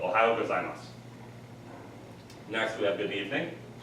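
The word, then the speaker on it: ohayō gozaimasu: However, if you want to say good morning, it's pretty simple because it's got one of our American states' syllable sounds in the name, which is Ohio, Ohio, and then just add gozaimasu to the end and it makes it formal. So Ohio gozaimasu.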